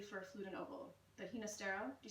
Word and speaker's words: Ginastera: I always learned it as Ginastera because even though he's Argentinian, he was of Italian extraction and wanted the more Italian pronunciation, if I'm not mistaken. Okay, Ginastera.